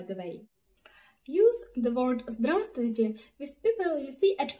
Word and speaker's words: здравствуйте: As for pronunciation of здравствуйте, pay attention to Russian R. It's not like English, but like Italian or Spanish, it's more intense.